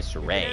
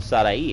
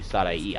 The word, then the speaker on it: Sadai: soray like she goes by saray and i was like but that's not her name like if you asked her what her name is and i looked at her like is is your name pronounced sadai and she was like yeah i was like then i'm gonna do you the respect of calling you saday i'm not gonna butcher